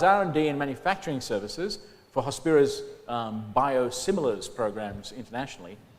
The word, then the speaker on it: Hospira: buyer Services uh a holy on subsidiary of hospira Inc am I pronouncing it properly hosp yes a global company